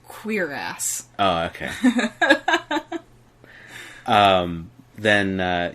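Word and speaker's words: cuirass: and you're only wearing a curus torso armor bodysuit that doesn't protect that it's pronounced queer ass oh okay um then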